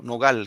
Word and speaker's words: nogal: Cuando dice la palabra nogal, en el primer verso, nogal, la última palabra. Cuando digo nogal, ¿dónde va el acento? ¿En no o en gal?